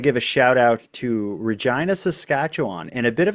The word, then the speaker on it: Regina: queen on there from Regina, Canada, and she shouted out Regina by saying that she was from the city that rhymes with fun.